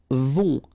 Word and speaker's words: vont: Then, ils vont. Final T not pronounced. And then O and together.